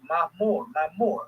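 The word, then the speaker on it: معمور: Mamor means the house. You see, the frequent visit house, the house, of Allah, the house, of the angels as well. And that's how it's pronounced in the Arabic, Mamor, right?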